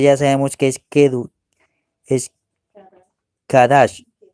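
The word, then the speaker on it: קדש: Sin embargo, el Eloh de Israel les otorgó el título de Kadash. Kadash. Y aquellos cananeos que vivían en Canaán, pues nos pronunciaban como si fuéramos Cados, pero no es Cados, ¿ve?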